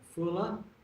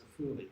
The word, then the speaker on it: Afula: This is Afuli. Again, Israeli people call it Afula. The Arabs call it Afuli.